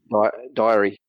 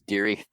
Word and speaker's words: Deary: Is it Deary? Am I saying your last name right? Is it Deary? It's not, but I don't bother about correcting anyone. Well, what is the correct pronunciation? Diary.